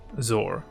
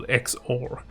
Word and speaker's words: XOR: one which is the zor okay or xor depending on how you want to pronounce this now this will go